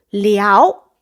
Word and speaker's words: 撩: 思的时候，它其实是读撩，了一凹撩二声。